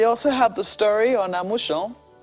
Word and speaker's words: Amusan: But, They also have the story on Amusan, since the Ijebude people say that's how it is pronounced.